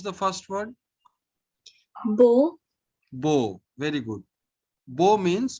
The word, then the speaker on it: beau: Okay, and finally, there are these group of letters AU or EAU. We simply pronounce it as O with rounded lips. O. O. Okay. So pronounce the first word. Bo.